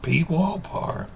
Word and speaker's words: Pwalpar: A lot of times they'll try, but you can't pronounce a P and a W together unless you say Pwalpar.